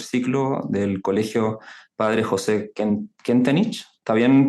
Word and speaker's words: Kentenich: Jefe de UTP, tercer ciclo del Colegio Padre José Kentenich. ¿Está bien pronunciado? Kentenich.